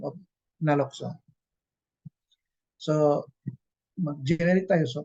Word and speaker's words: naloxone: Okay, and the last battery of it is the naloxone. Pag-pronounce po niyan is naloxone, hindi po naloxone.